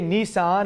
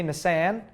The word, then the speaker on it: Nissan: trunk Bonnet and Hood we say Nissan and some say Nissan we say aluminum in